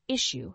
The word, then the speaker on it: issue: third word is issue the word issue has two syllables with the stress on the first syllable issue has several meanings